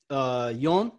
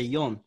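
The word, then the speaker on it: よん: Because, well, in Japanese, it has 2 pronunciations. They call it yon. It's ichi ni. San yon, right? Or they say she, but sometimes they say yon because she sounds like death, right? It's funny because it has 2 pronunciations, yon and she.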